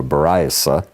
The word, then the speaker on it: Baraita: How do you say A Baraita. Baraita? Yeah, a Baraita. Well, he's translating Ashkenazi Hebrew here. I would say it's Sephardic, but Baraita, instead of a Baraisa, it's a Baraita, okay?